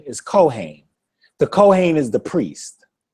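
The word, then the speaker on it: כֹּהֵן: may hear some people rush it and say Cohen Cohen is a common last name amongst Jewish people c h n Cohen but the proper pronunciation is cohain the cohain is the priest the cohain is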